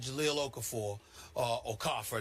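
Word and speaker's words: Jahlil Okafor: Listen, Carl Anthony Towns and Jal Okaforer, that's the way to say this name is pronounced.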